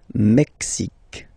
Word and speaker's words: Mexique: Mexique. It's really the X. Huh? Le Mexique. And then remember this Q-U-E, it's only K.